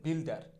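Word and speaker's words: builder: আমরা এটাকে বলি হচ্ছে বিল্ডার। সঠিক উচ্চারণটা মোটেও বিল্ডার হবে না, উচ্চারণটা হবে হচ্ছে বিল ডা, বিল্ডা, বিল্ডা।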